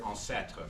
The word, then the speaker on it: ancêtre: Like, he would include an S in the word ancêtre, for ancestor, which is not pronounced in Québécois, not pronounced in France. It was pronounced in the 16th century, and Kerouac would include it as an archaic spelling.